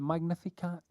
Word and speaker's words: Magnificat: It's from you know Mary's prayer when she just I think it's pronounced the Magnificat.